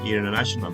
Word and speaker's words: international: aspectos de inglés norteamericano no se pronuncia la T, entonces es más bien International Trade. La T se pronuncia más bien en el inglés británico.